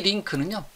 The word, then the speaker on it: LINQ: 자, 이 링크는요, 제가 링크하고 링크라는 발음이 똑같습니다.